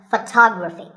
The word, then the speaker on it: photography: next word is photography we say photograph but photography so the first syllable becomes and the stress goes to the second syllable photography so photography in